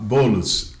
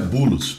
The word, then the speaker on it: Boulos: mim olha só ó bolos na verdade árabe pronuncia bulos bulos é Paulo São do meu meu